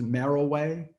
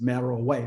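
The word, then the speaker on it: Meroe: kush third capital was merrill way if you look at it it looks like monroe it's m-e-r-o-e but it's merrell way that's how it's pronounced but alara rude from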